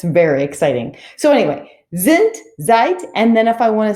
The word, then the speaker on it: seid: well, I would say, seid. Ihr seid cool. Now notice how I pronounce that. Even though there's a D at the end, I actually make the T sound.